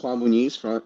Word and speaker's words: Juan Muniz: Hi, my name is Juan Muniz, straight from Las Vegas. Awesome. Thank you for pronouncing that, because I did not want to mess it up.